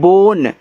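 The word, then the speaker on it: bone: ये देखो देखो आपका जो लास्ट में इ आता है। इसका उच्चारण नहीं होता।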